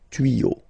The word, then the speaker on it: tuyaux: Same rule. You don't pronounce it. Des tuyaux.